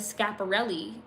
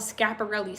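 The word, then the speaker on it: Schiaparelli: cooking um being pushed in fashion that brand scaparelli and if you look at some of their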